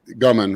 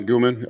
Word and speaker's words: Gumman: Gumman, right? Not Guman. I said it wrong last time, but Gumman, how much T3 does Justin recommend?